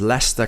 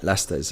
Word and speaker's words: Leicester: about long positions um good to hear you pronounce Leicester correctly of course of course great football team as well I am with a lot of history Lester's uh it's had a great year as well